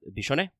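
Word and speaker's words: Biscione: and indeed yes it's Italian so it is pronounced uh bishon to remember that for rain there is actually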